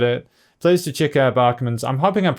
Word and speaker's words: Bäckman: correctly by the way i know there's a two little dots on top but i'm pretty sure that's a bar like instead of backman it's bachmann i'm hoping that's it